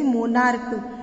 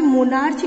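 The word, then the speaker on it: monarch: जैसे मोनार्क, यहाँ पे मोनार्च नहीं बोलेंगे हम इसे, इसे के की साउंड बोलेंगे, मोनार्क, तो ये मोनार्क्स बन जाएगा।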